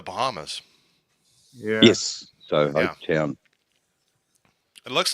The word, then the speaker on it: Hopetoun: So Hopetown is pronounced, or it's spelled differently. It's HOPETOUN. UN.